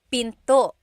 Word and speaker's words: pinto: Door in Tagalog is pinto. Pinto. And remember, don't forget the glottle stop. Don't forget to stop the sound at the end.